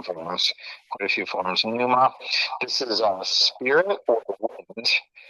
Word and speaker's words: pneuma: here, this you say it's acceptable to say either Numa. This pi is silent or sounded in construction. Different people do it different ways. In strict accuracy, it probably was pronounced in ancient times. So pneuma would be more strictly accurate pronunciation, but it's fine to